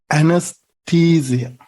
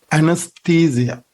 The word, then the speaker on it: anesthesia: pronounce this one this one has to be pronounced anesthesia the t particle this this syllable has to be stressed anesthesia anesthesia but in american english this word is